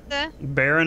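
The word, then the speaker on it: Barren: All right, so Baron is our moon that we're going to head to, by the way. Okay. It rhymes with our planet named Terran.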